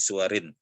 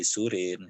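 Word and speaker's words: سُوَر: Suwar jamak dari surah ya, berbaris ya, fi suwarin. Jangan dibacanya fi surin, fi suwarin.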